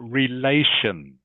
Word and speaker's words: relations: You do talk about your relations. Okay? In the word relations, the A is pronounced with the A sound.